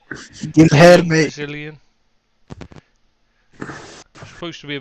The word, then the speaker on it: Guilherme: Anyway, next one, Guillaume signing for Hammers or Guy or whatever you want to pronounce it. Guilherme.